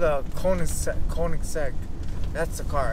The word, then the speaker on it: Koenigsegg: uh cosagan i think what you say or kargasan i used to say i used to say